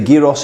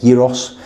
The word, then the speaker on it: gyros: I've done the gyros in the room, or the gyros, as you guys say. I'm pronouncing my G's when I don't need to.